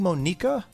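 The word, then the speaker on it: Monika: saying mo nica and it's probably Monica actually but for some reason I said mo nica and so far I haven't got any comments about that but I think I've been saying her name wrong hold on bring up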